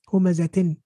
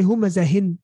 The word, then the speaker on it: هُمَزَةٍ: Humazatin. Tin. Hey, we didn't say humazahin. No. We're pronouncing the ta. We're saying humazatin.